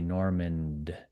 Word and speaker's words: Normand: I'm sympathetic because my name has a D at the end. And so I have to say Normand, like Yeah.